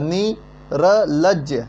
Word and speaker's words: निर्लज्ज: ठीक, ये र है ना, आगे इसका उच्चारण कहाँ से होता है, आगे होता है, नी र लज्ज, निर्लज्ज, निर्लज्ज होता है।